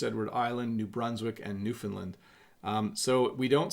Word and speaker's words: Newfoundland: sense game account says how do you really pronounce Newfoundland so it's Newfoundland that's a question coming out of the chat but we say Newfoundland okay so that person